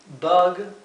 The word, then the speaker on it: bug: La U inglesa se pronuncia E. Bug. Pero como no tenemos una vocal que es con el mismo sonido en español, en la fonética lo he escrito B-A-G. Bug. Bug. Sin embargo, hay que tratar de pronunciar la U como en inglés.